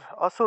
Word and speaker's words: অসুর: কিমচাতি বীরিয় বীরিয়ামসুর किम चाति वीरिया वीरियामासुर অসুর, অসুর উচ্চারণ হবে। আর রয়ের যে অটা রয়ে গেল সেটা অ দিয়ে উচ্চারণ হবে, অসুর উচ্চারণ করবো।